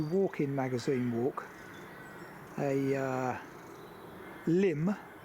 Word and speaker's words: Lympne: do a country walk-in magazine walk a uh limb spelled l y m p NE e but pronounced Lim apparently doing their limb and hi